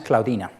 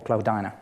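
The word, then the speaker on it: Cloudina: Y tenemos uno de los más emblemáticos, mejor conocidos, y lo tenemos en España, es Claudina, o Claudana, depende de cómo quieran pronunciarlo. Los más antiguos de esta biota de Ediacara tienen este aspecto.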